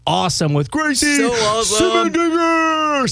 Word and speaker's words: Simendinger: Simendinger!